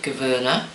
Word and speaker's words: Gouverneur: animal artist called Becky Gouverneur. I will spell that, and I know how to pronounce it right because it's Dutch and I need to get a h in the Gouverneur.